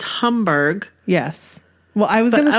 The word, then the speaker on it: Hamburg: do you pronounce that is it humber I think it's Homburg yes well I was